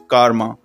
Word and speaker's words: karma: Karma, असल में कुछ लोग इसको karma भी कहते हैं, but that's wrong pronunciation. The real and correct pronunciation is karma.